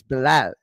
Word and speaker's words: Belal: Like, so people that say Belal, okay, Yeah. like lol, like lollipop. No, you hear that it's Belal, right?